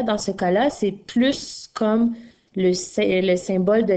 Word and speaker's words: plus: assez je n'en peux plus mais dans la phrase marques à plus de toutous que moi ici je vais prononcer le s est là dans ce cas là c'est plus comme le ciel symbole